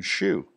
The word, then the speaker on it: Hsu: This was discovered following the arrest of Norman Shue, a wealthy businessman who was able to raise $1.5 million in campaign contributions to Clinton and other Democrats. Shue, that's spelled HSU, was charged with operating a $60 million Ponzi scheme and imprisoned.